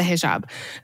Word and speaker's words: hijab: help me pronounce it I would say hij hijab is that how you pronounce I wore the hijab yes you wore the hijab um what did it like when did you